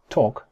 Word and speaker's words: talk: Talk. Se dice talk, no se dice talk. Mirad, en inglés, la mayoría de palabras que tienen la A y la L van a sonar como una especie de O.